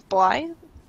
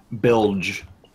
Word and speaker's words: Bilge: So you said your name was Blythe? Bilge. Bilge? I don't know what I just wrote. Like bulge, but not quite.